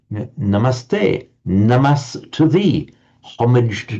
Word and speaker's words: namaste: mentioned down here that if the following word begins with a t the s remains that's why you have this lovely Hindu greeting namaste namaste namast to thee homage to to to to thee.